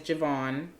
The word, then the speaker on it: Javon: You know, and to even go further on how eclectic I am in music, like, I gave you guys Javon. I know that's how you pronounce the name.